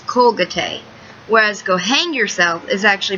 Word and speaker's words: Colgate: in Spanish side note Colgate is actually pronounced in most Spanish dialects as colate whereas goang yourself is